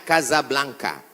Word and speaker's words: Casablanca: nama negaranya Maroko ibukotanya tulisannya Casablanca cara bacanya Kadzab langka Kaza artinya rumah Blanca